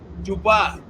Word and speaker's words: Dubois: How do you pronounce his name? Dubois.